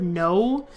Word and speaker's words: know: look at the word no and you're like you're not supposed to say the K. You're not supposed to say the cano or canal. What? It's pronounced no.